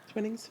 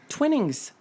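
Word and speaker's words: Twinings: Twinnings? Is that right? Yes. Twinnings. Twinnings? Mm-hmm. Can you spell that?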